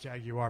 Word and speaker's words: Jaguar: So anyway, Jaguar. It's actually pronounced Jaguar, but we won't argue that.